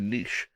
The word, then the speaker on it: niche: It's like it's not a niche. It's a niche.